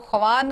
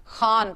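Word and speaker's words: ख़्वान: इसको ख्वान कभी भी मत पढ़िएगा, जब भी खे के बाद वाव और वाव के फौरन बाद अलिफ आता है तो वाव जो है वो साइलेंट हो जाता है, खान पढ़ना है।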